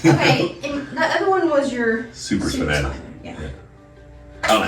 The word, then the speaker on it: supraspinatus: Okay, and the other one was your supraspinatus. Yeah. I don't know how you say it correctly. Supraspinatus.